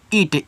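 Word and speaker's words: it: तो इसको पढ़ते हैं इट। ईट मत पढ़िएगा। इट पढ़िएगा।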